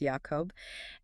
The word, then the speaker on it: Jacob: There is an intentional phonetic pun between the name of the river Jabbok, pronounced Yabbok, the name Jacob, pronounced Yacob, and the Hebrew word for the wrestling itself, Yavak.